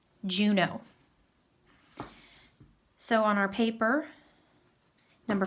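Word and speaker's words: Juneau: of looks like a funny word but it's pronounced Juno Juno so on our paper number five is going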